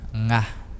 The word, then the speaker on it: nga: A língua fica dobrada lá no final.